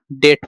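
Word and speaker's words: debt: अब इसको डेप्ट पढ़ते हैं कई लोग तो इसको डेप्ट नहीं पढ़ेंगे। इसको डेट पढ़ते हैं।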